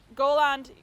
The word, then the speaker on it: Goland: And Goland. Is that how you say it? Goland? Goland. Yeah, Goland. Yeah.